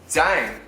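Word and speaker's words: 땡: Dang.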